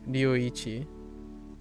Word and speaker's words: Ryuichi: Ryuichi. Ryuichi. So Ichi is very sharp and pronounced, and it's, you know, one, right? Ichi. And then Ryu is very soft and blendy.